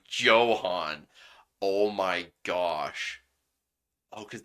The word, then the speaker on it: Johan: office say the name Johan oh my gosh oh cuz the H is silent in Johan so it's yoan so it basically sounds